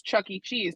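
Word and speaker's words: Chuck E. Cheese: say it properly yes look at it it's an e it is an initial but you just say it as Chuck E cheese but if you if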